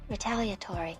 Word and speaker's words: retaliatory: Oh, here's the answer. Retaliatory. Retaliatory. Yeah, so there's the E in it. 5 syllables.